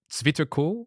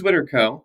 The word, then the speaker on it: ZwitterCo: words comes from the Germans so do you pronounce it like the Germans like Switzer cool or is it suitable it is sweaterco I will say we have had several members